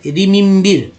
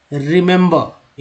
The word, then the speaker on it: remember: अब देखिए पहला ई का उच्चारण जो है यहाँ पर है छोटी के रूप में, दूसरा ई का उच्चारण जो है ए के रूप में, तीसरा ई का उच्चारण जो है आ के रूप में उच्चारण हुआ। क्या पढ़ा गया, रिमेंबर, इस तरह से लिखते हैं, रिमेंबर, रिमेंबर।